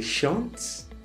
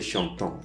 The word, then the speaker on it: chante: Il chante. Okay, so this chante has the same pronunciation as the first person singular. Okay, chante. You don't say chantant, no. Say chante, il chante, elle chante.